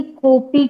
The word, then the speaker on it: कॉपी: जी गुरुजी, इसको प्रोनाउंस करके बताएंगे, कॉपी कैसे बोलना है? कॉपी। अच्छा, अ नहीं बोला जाएगा? नहीं, यहाँ पर अ नहीं बोला जाएगा, कॉपी।